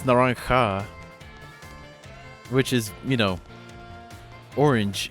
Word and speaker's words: Naranja: A lot of people seem to pronounce it Naranja, but no, it's Naranja, which is, you know, orange in Spanish.